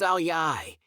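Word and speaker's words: áo dài: number one number one Vietnam Vietnam's national dress pronounced aliyai is one of the country's most striking symbols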